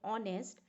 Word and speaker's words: honest: just like here while while we are saying honest h remains silent in the same way